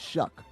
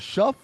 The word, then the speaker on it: Shough: He spells it Shough, but I have to Google how you say it. You say it Shuck. I was like, is it Shuff or Show? And they're like, Shuck.